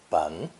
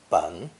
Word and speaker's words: 本: This character is pronounced third tone, bun, bun, and is used most often to indicate the root, origin, source, or foundation of something.